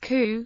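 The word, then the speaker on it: 九: a homophone for death nine when pronounced coup is a homophone for suffering C tetrobot from Western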